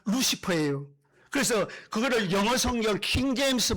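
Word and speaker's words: Lucifer: 가톨릭에서 천주교에서 쓰는 성경에서 루키페르라고 번역을 했어요. 그거를 영어식으로 발음하면 루시퍼예요.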